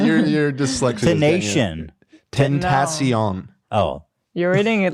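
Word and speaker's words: XXXTentacion: Temptation. No, but Temptation that's Island. better. That's closer. That's closer. Okay, yeah. Tentacion. I mean, okay. So how does he say his name? XXX Tentacion? Right. Yeah. Tentacion. So anyway, he passed away.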